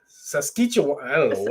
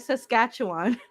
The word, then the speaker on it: Saskatchewan: back my bunny man yeah you use this sasquitcha i did not say that i said saskatchewan a skeleton wine i don't know what you